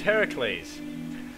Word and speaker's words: Heracles: sensible name next time his name is Heracles Heracles is in Hercules just say it like that Heracles taking too long